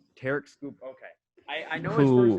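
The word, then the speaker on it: Tarik Skubal: And then you have I always mispronounce his name. How do you say it? Tarek Skubal. Tarek Skubal.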